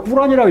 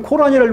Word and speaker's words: 꾸란: 코란은 왜 코란입니까? 영어로 그렇게 발음됐기 때문입니다. 영어로. 그러니까 꾸란이라고 읽어줘야 돼요. 그렇죠? 실제로. 그 중동 아랍 이슬람 사람들이 꾸란이라고 읽는데 영어권의 사람들이 코란이라고 읽었다 우리가 코란이라고 읽어줘야 되나요? 안 그렇죠? 꾸란이라고 읽어줘야 되는 거예요.